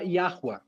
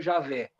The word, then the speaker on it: Yahweh: Qual é a diferença do Gadu para Yahweh, que é o Deus bíblico? Para quem não sabe, o nome com que se pronuncia o Deus da Bíblia não é Javé, nem Jafé, é Yahweh.